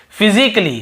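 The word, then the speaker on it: physically: और देखिए फिजिकली, हम क्या पढ़ते हैं, फिजिकली, ये देखिए फिजिकली, तो यहाँ पर भी ए का उच्चारण नहीं हो रहा है।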